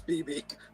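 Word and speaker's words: Bebe: first one BB newworth is it BB newor it's BB that's how you pronounce it she was the restaurant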